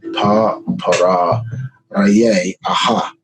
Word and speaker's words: Pharaoh: Yeah, the proper pronunciation of Pharaoh. Pa-para Raye Aha.